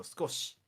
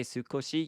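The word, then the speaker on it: 少し: So skosh, Yeah, you don't really say. So, It's kind of spelled Sukoshi, but if you say Sukoshi, you sound very Amerikajin. It's called high vowel voicing, and for those of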